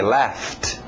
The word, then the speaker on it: laughed: Passado regular ED, mas som só de um T. Laughed.